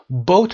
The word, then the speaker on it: bow tie: bow tie رو ببینیم number 6 هست. bow tie تلفظش رو دقت داشته باشید.